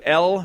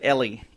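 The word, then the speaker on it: Elle: Hey, according to L magazine, am I saying it right or is it Ellie? E L L E L L. Okay, I thought so.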